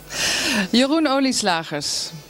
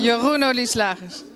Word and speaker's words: Jeroen Olieslagers: Jeroen Olieslagers. Ça, il faut le prononcer. Hein? Jeroen Olieslagers.